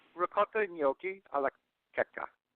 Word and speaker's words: Checca: It's ricotta gnocchi alla Checca. Checca.